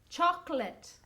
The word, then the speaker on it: chocolate: Chocolate. 2 syllables.